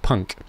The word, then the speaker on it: PUNC: a couple of neopixels I call it the punc pronounced Punk presence USB notification Contraption it also looks like it's got a mohawk hence the name Punk I'm planning on sticking